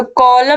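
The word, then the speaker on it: column: the word कॉलम तो कॉलम में देखिए सी ओ एल यू एम लेकिन एन जो है एन को हम नहीं बोल रहे हैं इसका उच्चारण नहीं कर रहे हैं तो यह वर्ड क्या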